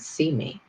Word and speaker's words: CIME: it to cime and we pronounce that see me but that's the whole